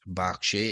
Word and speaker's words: Berkshire: Last episode, Angela from Berkshire, and I have confirmed by the way that it is pronounced Berkshire even though it's spelled Berkshire.